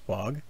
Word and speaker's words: hfog: fog from fog world he spells his name hfog but it's pronounced fog he saw another person